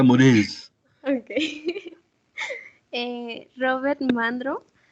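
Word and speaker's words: Morazé: Y los líderes de esta generación fueron Fernand Braudel, Charles Morais, no sé cómo se pronuncia. Mores, Ok. como si fuera Mores.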